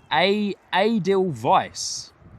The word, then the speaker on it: Edelweiss: Bye bye 006 breaking it down for me and saying the way you pronounce it is Edelweiss.